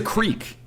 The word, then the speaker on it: creek: Yeah, I call it a crick too. It's a creek. No, crick rhymes with Nick.